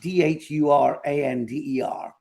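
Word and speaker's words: Dhurandhar: Duranga. It's pronounced Dhurander.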